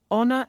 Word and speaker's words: honor: That's because the h is silent in those words, and the first sound is au.